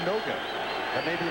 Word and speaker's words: Noga: stars of the Lions when he was in Hawaii he pronounced his name nanga got to the pros it became NOA that may be like